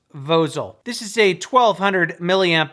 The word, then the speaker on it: Vozol: a company called vosel v-o-z-o-l i think it's pronounced vozel this is a 1200